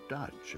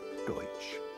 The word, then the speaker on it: Deutsch: name they are not Dutch at all Dutch is simply a mispronunciation of Deutsch which means German due to their